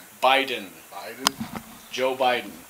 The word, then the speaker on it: Biden: think milani is calling me to drill joe bidden yeah that's not how you pronounce his name how you pronounce his name biden biden joe biden not biden and we're gonna